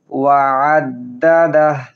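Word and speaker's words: وَعَدَّدَهُ: আইন হলকের মধ্যখান থেকে উচ্চারণ করব। ওয়া'আদ্দাদাহ।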